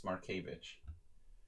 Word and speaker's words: Markevich: But it's not Twitch, it's Markevich.